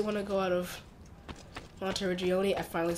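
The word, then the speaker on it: Monteriggioni: So, I don't really want to go out of Monte Regioni.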